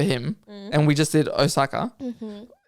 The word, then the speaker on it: Osaka: spell it out Osa osaki close but no suck Osaka yeah osak Osaka yeah yeah that's